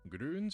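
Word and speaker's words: Grüns: this video sponsor grons grons and yes I'm pronouncing the uml every time are a convenient comprehensive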